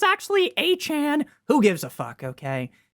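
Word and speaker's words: Achane: People say I I pronounce Devon Achain's name wrong. Nick, it's actually a Chan.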